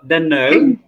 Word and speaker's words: don't know: আই ডোন্ট নো your name, কিন্তু এইটাকে ডোন্ট নো এইভাবে বলে না। হ্যাঁ, ওরা কি বলে বলো তো, উচ্চারণটা করো তো। ডোন্ট নো, আবার ভুলে আবার ডানো বলে ভুলায়ও না, ডানো ডানো খাবা। এটার নো স্যার, উচ্চারণটা হচ্ছে, বলো আমার সাথে বলো, ডেন নো ডোন্ট নো ডেন ডেন ডেন নো